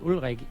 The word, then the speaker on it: Ulrik: So guys, one of the reasons I thought Ulrik, which is, the Danish pronunciation of his name, but Ulrik, the reason